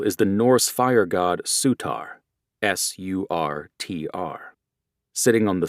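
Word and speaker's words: Surtr: Their symbol is the Norse fire god, Sutar, Sur TR, sitting on the sun and wielding a sword. Their colors include a denim sleeveless jacket with the sutar pronounced sudar patch on the back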